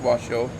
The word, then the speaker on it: Washoe: S-H-O-E is shoe. But it's pronounced Washoe.